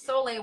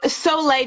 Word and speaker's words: soleil: As Soleil, wow. Maybe you can spell that again. Somebody wants to. Yeah. So soleil, just the French word for sun, soleil, S-O-L, I think it's E-I-L, soleil, soleil well.